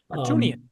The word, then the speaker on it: Harutyunyan: a loss, because Artem Harutyunyan, or however you pronounce it. Harutyunyan. Gotcha. Yeah, there's a lot. There's a YAN and a YUN that kind of just gets mashed together in some ways.